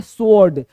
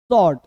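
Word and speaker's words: sword: डब्ल्यू ओ आर डी लोग बोलते हैं स्वर्ड स्वर्ड नहीं बोलना स्वर्ड नहीं बोलते हैं स्वर्ड नहीं बोलना स्वर्ड क्या बोलना भाई तलवार बोलते हैं ना शॉर्ट क्या बोलेंगे स्वर्ड सॉर्ट शॉर्ट शॉर्ट शॉर्ट स्वर्ड नहीं स्वर्ड गलत है एक-एक लेटर एक-एक वर्ड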